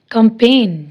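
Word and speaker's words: campaign: फॉरन, resign, design, assign, कंपेन, जी silent है।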